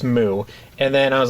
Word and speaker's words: MW: searching for it the Wikipedia page says it's pronounced moo and then I was like okay but this